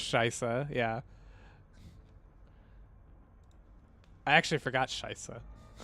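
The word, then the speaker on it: Scheiße: I actually forgot scheisse Americans for a longest time had this really like annoying habit of saying schiessen for like for reasons I've never been able to pinpoint like where that mispronunciation came from let's see what else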